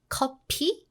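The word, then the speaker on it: 커피: coffee we don't put we don't have f sound so make sure you pronounce it correctly copy copy right copy handcup sounds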